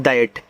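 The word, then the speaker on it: that: टी एच ए टी को पढ़ते हैं दैट तो टी एच देखो यहां पे द बनाएगा इस इंग्लिश में टी एच आपका था और द दोनों बनाता है डी से यहां द नहीं बनता याद रखना और ए ऐ की मात्रा टी से आपका ट ए आपका दैट हो गया देखो टी एच और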